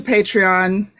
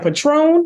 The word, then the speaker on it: Patreon: So go on over to Patreon. Spell it, Ange. Become a subscriber. Pardon? Spell it. Patreon. Okay, thank you. Okay, I was like, Patron? No, Patreon. Patreon. Patreon. She said Patron.